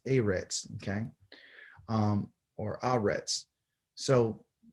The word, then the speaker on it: eretz: in english eretz okay it's not e-rex it's a reds okay um or already